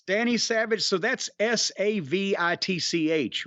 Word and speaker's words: Savich: So that's Savitch, right? Savich is how it is spelled here.